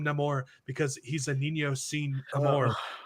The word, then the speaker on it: Namor: they don't have so they pronounce him not more and the the freaking showrunner in an interview who said yeah we call him no more because he's a Nino